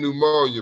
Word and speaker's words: pneumonia: You just don't say the letter P, then pneumonia, because there's no.